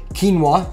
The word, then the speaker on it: quinoa: 136 grams of quinoa I believe I said it wrong in my last video so quinoa and then we got